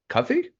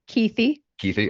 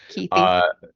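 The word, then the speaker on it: Kuithe: Tight end Brant Cuthie? Keithy. Okay. Keithy. Defensive tackle Junior Tafuna?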